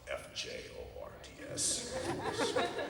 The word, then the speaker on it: fjords: That's spelled F-J-O-R-D-S, which I didn't know. It's fjords. How is there not an I or an E in there?